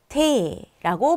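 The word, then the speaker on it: Tee: 자, 마시는 차가 있어요. 이것도 에가 붙어 있으니까 왠지 이로 읽고 싶으실 텐데 그러지 마시고 에로 읽어주셔야 됩니다. 그래서 발음하실 때 테라고 발음하시면 돼요.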